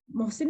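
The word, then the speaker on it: محصن: जैसे ये हदीस सुनी, ये बात सुनी, तो एक सहाबी अक्काशा बिन मोहसिन भी कहते हैं और मेहसन भी आया वो नाम, शायद मेहसन ज्यादा इसका प्रोनाउंसिएशन है, रजी अल्लाह अन्हु खड़े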